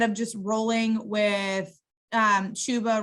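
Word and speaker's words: Chuba: just rolling with um shuba rhymes with tuba hubbard and um royce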